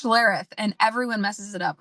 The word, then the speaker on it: Schlereth: But first, uh Sheriff. Oh goodness, did I mess up your name? Can you help me pronounce that? It's Schlareth.